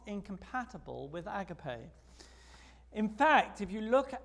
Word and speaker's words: agape: You know, the Greek word there is agape. That's how the English pronounce it. Americans like to say, yeah, which sounds to me like one of those little fish, you know.